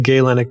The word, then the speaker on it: Galenic: Galenic medicine, yeah.